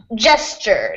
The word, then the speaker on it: gesture: just pronounce that Gest gesture gesture G gesture gesture yeah the S and the t almost makes like a CH sound here just yeah just like in picture it sounds more like a CH than